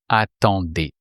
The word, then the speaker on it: attendais: So you replace the ending, the or, the r sound, like with to be, by et, which makes attendez. So you were waiting is tu attendais.